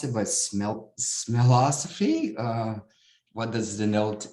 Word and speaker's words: Smellosophy: pronounce it but smell smellosophy uh what does the note knows tells the mind with harvard university press how do we pronounce the first word it's milosophy i should say this